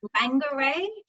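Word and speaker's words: Whangārei: the day there and i will try and pronounce this correctly for my new zealand friends but bangarray um is our new port in new zealand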